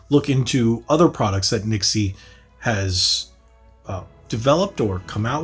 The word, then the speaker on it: NYXI: the Nixie wizard uh it's spelled n y x i I call it Nixie I think that's how I've heard it pronounced but it's a brand